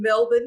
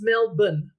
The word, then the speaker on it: Melbourne: uh yeah I'm in Melbourne Australia a little heads up it's Melbourne not Melbourne let me get my